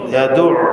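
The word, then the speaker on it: يدع: ইয়াদুউ গলার মাঝখান থেকে উচ্চারণ হবে, ইয়াতীম ইয়াতীম।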